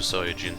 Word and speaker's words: Saiyan: yeah i'm going super saiyan this is how saiyan is pronounced in japanese i think it was